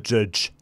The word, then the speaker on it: JYDGE: avez le droit soit on va jouer à judge jazz ça se passe dans le même univers que néons chrome attention aux son élan j'ai prévenu le coach m'a dit 'je ça s'écrit j' y dge oui c'est cryptage de manière étrange j y j y